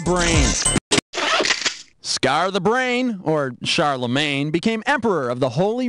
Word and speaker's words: Charlemagne: or Scar the brain Scar the brain or Charlemagne became emperor of the Holy Roman Empire around the year 800.